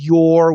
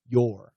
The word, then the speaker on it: your: And this is a long O plus R. So rural, tour, your.